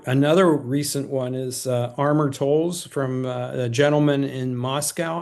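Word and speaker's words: Amor Towles: Another another recent one is uh Armortols from a gentleman in Moscow. I'm not sure I'm pronouncing that correctly. Amar Tols.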